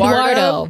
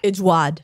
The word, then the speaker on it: Édouard: Eduardo. No, it's not Eduardo. It's... Edward? Edward in America, in English. But Edward? He's French. Edouard. Edouard.